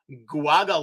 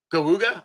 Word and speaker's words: Geauga: There is one that was, I'm going to probably pronounce this wrong, Guaga Lake. It's Geauga. Cayuga. Cayuga? Okay. Cayuga. Cayuga. Say it again.